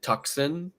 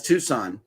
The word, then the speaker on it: Tucson: is a town in Arizona um do you pronounce it tuxen that's Tucson that's Tucson Mike and ranana says we don't